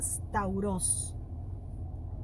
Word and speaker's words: stauros: En cuanto al origen, el origen de la cruz viene, o la palabra, viene del griego que se llama stauros. lo pueden buscar después, se escribe S-T-A-U-R-O-S, Stauros.